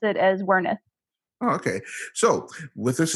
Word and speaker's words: Werneth: name so I think in German it would be something closer closer to veret but my ancestors came